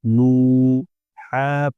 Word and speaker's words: نوح: حا پیش حو، نوح، پیش کو تھوڑا بھی نہ کھینچے اور مجہول بھی نہ ہونے دے، مجہول نہیں ہونا ہی، مجہول نہیں ہونا ہی،